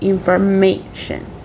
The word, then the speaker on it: information: The primary stress is on the third syllable. It will be indicated by the symbol in the top, and it is before made, so information.